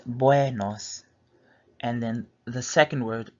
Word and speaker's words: buenos: So it's buenos.